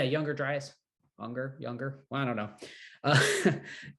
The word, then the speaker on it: Younger Dryas: There's a popular guy who talks about Unger Dryas. Is that how it's said? Unger Dryas event, some sort of cataclysmic event. Younger. Yeah, Younger Dryas.